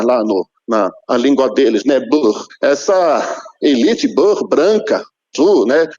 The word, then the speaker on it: Boer: Boer.